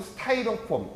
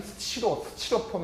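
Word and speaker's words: Styrofoam: 그래서 원래는 요게 보면 이제 스타이렌하고 폼하고 스티로폼 또는 스타이로폼, 이게 스티로폼 이렇게 해야 되는데 옛날에 일본식 발음이 스티로폼 해갖고 여러분들도 가끔씩 이제 보면 이제 스티로폼이란 말 많이 들어봤죠, 그죠?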